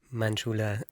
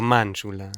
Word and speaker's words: Manjula: Em, Manchula, vos lo pronuncio así, sí, está muy bien. o Manchula, Manjula, como te sientas, como decirlo, no, no hay Si te problema.